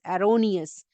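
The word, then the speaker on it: erroneous: है ठीक है तो एरोनियस E double R ओ एन ई ओ यू एस एरोनियस ए बोलेंगे इसको ई नहीं कह के प्रोनाउंस करेंगे अब जो इसके सिनोनिम्स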